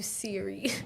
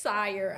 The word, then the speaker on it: Sire: I've been calling you Siri, and your name is pronounced Sire.